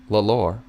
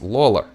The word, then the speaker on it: Lawler: It's not Lalor. It's Lawler. So like Lawler.